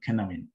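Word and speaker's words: Cynefin: approach is a framework uh this is called kineman so uh although it's spelled as c-y-n-e-f-i-n uh it's a welsh word and thus is pronounced as a kinamine so it was developed by david snowden in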